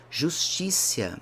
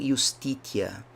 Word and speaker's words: justitia: Justícia, não justitia, que seria talvez uma pronúncia um pouco mais exata, romana.